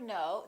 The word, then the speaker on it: know: you know for example in the word know the K is silent you probably already know